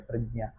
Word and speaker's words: प्रज्ञा: साकुला सुख यजुर्वेद प्रातिशाक्यम के अनुसार प्रज्ञा में प्र फिर आधा ज फिर विच्छेद रूप एक ज आधा रहता है और उसमें चंद्र बिंदी लगी रहती है लेकिन वह यम है जो अशरीरी है उसका उच्चारण नहीं किया जाता और फिर है च वर्ग का अंतिम अक्षर च ज्ञान यही ही शब्द बनता है और प्रज्ञा जो यम है विच्छेद रूप उनका उच्चारण नहीं किया जाता तो बन जाता है प्रज्ञा और उसमें जैसे आपने